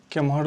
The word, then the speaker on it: केम्हर: उच्चारण जो है वो एम्हर को इम्हर भी बोला जाता है, उम्हर को उम्हर भी बोला जाता है, केम्हर को किम्हर भी बोला जाता है, जेम्हर को जिम्हर भी बोला जाता है।